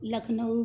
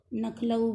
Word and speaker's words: लखनऊ: आप लोग अपने जो है अनुभव में देखा होगा, कई लोग लखनऊ को नखलऊ बोलने लगते हैं।